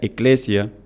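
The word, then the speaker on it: ἐκκλησία: es una palabra que viene del griego que que se pronuncia eclesia que en español significaría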